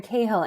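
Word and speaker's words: Cahill: and they acting opposite I always say last name wrong somebody help here kill kill yes they're acting opposite Aaron kahill and she is just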